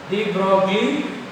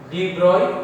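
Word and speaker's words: de Broglie: So இதை நம்ம எப்படி ப்ரொனவுன்ஸ் பண்ணுறோம் அப்படின்னா டி ப்ராக்லி wavelength, டி ப்ராக்லி. ஸோ இது வந்து ஒரு ஃப்ரெஞ்சோடைய சயின்டிஸ்டோட நேம்னால இந்த எல்ஐஇ அப்படிங்கிறத நம்ம ஷார்ட்டாக ஒய் டி ப்ராய் வேவ்லென்த்லாம் நம்ம ப்ரொனவுன்ஸ் பண்ணணும்.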